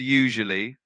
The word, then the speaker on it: usually: The word usually is pronounced like usually. The first syllable sounds like you. The second syllable has a soft j sound, and then it ends with uli.